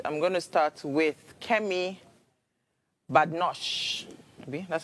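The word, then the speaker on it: Kemi Badenoch: I'm going to start with Kem Badosh. That's how you pronounce her name.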